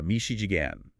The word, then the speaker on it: Michigan: Yoast, with his West Virginia draw, had this very unusual pronunciation of the state he lived in, famously calling it uh Mishi Jigan.